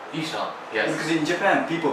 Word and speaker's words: Ihsahn: There's no real way of pronouncing it. It's just how I pronounce it, because it's a constructed name that I made up.